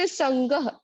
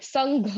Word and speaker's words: संगः: उसके बाद विनिवृत्त संगह, तो वहां पे ग है, संघ नहीं है वो, ठीक है।